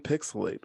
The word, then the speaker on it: PixelHate: um this has been pixelate where the H is silent but the hate is real I am your host